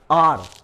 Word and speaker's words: hour: R, इसका उच्चारण होता है R, अवर भी नहीं होगा, R, H साइलेंट है, और R के